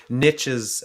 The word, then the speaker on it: Nietzsche: Well, Manuel, who I presume is currently reading Nietzsche's Beyond Good and Evil, says he doesn't hear any difference between the pronunciations.